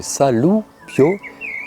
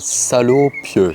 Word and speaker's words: Saloupio: À bien prononcer Saloupio et non pas salopieux, ça n'a rien à voir. J'ai naguère entendu quelqu'un dire saloupion.